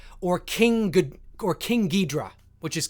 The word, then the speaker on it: King Ghidorah: Or King Ghidorah, which is King Ghidorah. King Ghidorah, I believe, is the correct Japanese pronunciation.